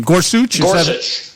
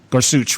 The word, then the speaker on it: Gorsuch: Um they started the confirmation hearing today on Supreme Court Justice nominee Neil Gors I don't know exactly how to pronounce his name. Gorsuch Gorsuch.